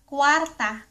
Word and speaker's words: kwarta: Pe ra or kwarta.